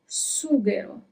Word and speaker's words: sughero: Always repeat the words when I pronounce them, okay, in order to practice a little bit. Then we have sughero.